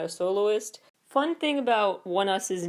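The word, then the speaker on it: ONEUS: you pronounce it onus it looks like it's spelled onus at first glance because it's spelled like one word come on people let's think about the names of title tracks from one us to be or not to be Valkyrie to be or not to be onus or to be or not to be one us it is so it just fits so much better to have that Shakespeare era pronunciation it's to be or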